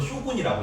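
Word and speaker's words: 将軍: 그 장군을 일본어로 쇼군이라고 읽어요. 막의 지배자를 쇼군이라고 합니다.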